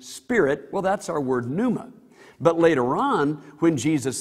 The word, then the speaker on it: pneuma: That's because the English word pneumatic comes from the Greek word for air, pneuma. In our letters, English letters, we would spell that P, which is silence, of course, P-N-E-U-M-A, pneuma.